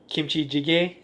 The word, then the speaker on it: kimchi jjigae: Yeah, is this where kimchi jjigae?